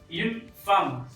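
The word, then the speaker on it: femme: तो जैसे कि एक औरत यून फार्म, यून फार्म, यून एफ ई एम एम ई, यून फार्म एक औरत।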